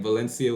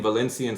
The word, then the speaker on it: Valencia: It's like me saying Valencian Spanish is Valencia. They would say it like Valencia.